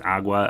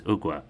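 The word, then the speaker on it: Ogua: we were all kind of wondering how to pronounce that we thought maybe it was agua agua um yeah it's ookwa um and then the Blue Devil um we're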